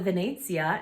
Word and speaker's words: Venezia: Because it's called the Venezia, and Venezia is how you say Venice in Italian.